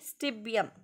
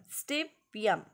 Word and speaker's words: stibium: Latin name means, pronounce with me, stibium, stibium, stibium.